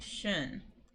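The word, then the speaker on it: schön: that means already but I'm making a a really scrunchy o mouth but I'm kind of saying e I'm saying shun um and that means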